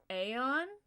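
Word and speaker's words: Aion: Uh but some of them are really fun like um uh let's see uh Aon I think is how it's pronounced.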